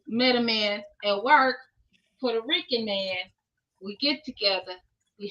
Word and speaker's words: Puerto Rican: And a Puerto Rican is Puerto Rican. It's not Puerto. She got me saying it wrong.